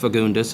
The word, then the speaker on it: Fagundes: fagundus or it's pronounced fagundus it's spelled fagundus uh it is a Portuguese name so in Portuguese I guess you'd say fun F but since most people don't don't say that I was raised it's